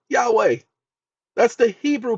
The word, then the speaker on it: Yahweh: in all capital letters this is the Hebrew pronunciation of God's name Yahweh that's the Hebrew pronunciation